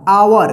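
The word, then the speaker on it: our: इज ओ यू आर आवर, देखिए rule में क्या था कि ओ यू एक साथ रहे तो ओ यू का आव उच्चारण होगा, ठीक है। तो यहां पे आवर होगा, एम ओ एस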